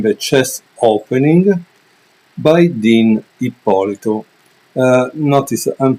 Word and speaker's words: Ippolito: chess opening by Dean ipolito uh notice I'm pronouncing the last name correctly because it's a Italian last name so it's not ipolito like Americans say ippolito uh with that said